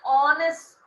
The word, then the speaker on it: honest: Besides being an honest, not honest children, honest student, because here H is absent, we need to pronounce with O.